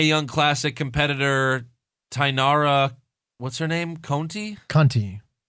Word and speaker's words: Conti: classic competitor tanara what's-her-name Conti you know it's not Kunti Conti cont I Conti if